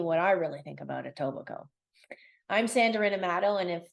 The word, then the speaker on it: Etobicoke: iobo it's a weird word it's a weird spelling and it is not pronounced oke this is a large